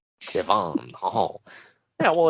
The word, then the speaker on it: Devon: I put the emphasis on the wrong syllable. You turned him into a Frenchman, Devon. Devon.